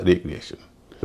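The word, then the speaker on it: recreation: ई और ए और रिक्रिएशन रिक्रिएशन का मतलब होता मनोरंजन एक और शब्द रीक्रिएशन उसका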